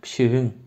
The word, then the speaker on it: pişiğin: Nemenin, pişiğin. Oradaki K, G oluyor. Telaffuzda G gibi çıkıyor.